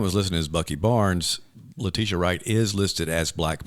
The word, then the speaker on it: Letitia: Letitha Wright, I can never pronounce her first name. Black Panther. Shuri. So, yeah. And so Letitia Wright.